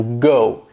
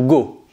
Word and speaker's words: go: On ne dit pas to go. To go, ça c'est l'accent français. En anglais, on va prolonger le O, comme s'il y avait trois W derrière. Go.